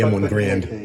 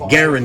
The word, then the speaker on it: Garand: Everybody calls it the M1 Grand. But Garand is how the inventor's name was pronounced.